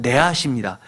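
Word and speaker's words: נָחָשׁ: 그런데 뱀은 네앗입니다. 다 자음만 보면 니읒, 히읗, 시옷이 들어갑니다. 즉 구원의 놋뱀, 구리뱀이라고 하는 것은 뱀과 구리는 발음이 비슷한 것을 두 번 반복하면서 잊지 말라는 겁니다.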